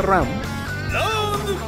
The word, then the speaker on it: Ran: Sí, se pronuncia Ram.